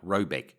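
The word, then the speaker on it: Råbäck: to be called raybac pronounced something like robec though it is not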